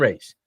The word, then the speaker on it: Rhys: Orlando content, go and check out Steph and Rhys. What's your YouTube channel called? Is it called Steph and Rhys?